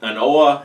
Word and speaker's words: An Oa: is there an oh I've heard this pronounced is both inoa and and all so couldn't really figure out definitively which one it was but knowing the Scots I'm gonna go with a no on this one anyway the mole of